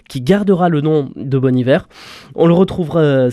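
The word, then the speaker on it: Bon Iver: En fait, il avait pris la locution française bon hiver euh qui vient d'une série,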